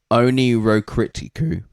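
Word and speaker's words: Oneirocritica: Oniroticu is how phonetically how you should say it and onro comes from the Greek word of dream and the ei is the long i sound so rhyming with fly or sky.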